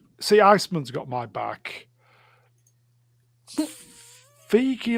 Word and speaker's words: Feige: Feige like beige.